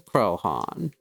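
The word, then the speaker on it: Croaghaun: situated on its slope is named after it pronunciation krohn nice i promise i didn't mean to the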